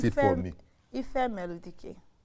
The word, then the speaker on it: Ifemeludike: Ifemeludike. Ifemeludike. Dike. It was better. You say Duke, so that Duke.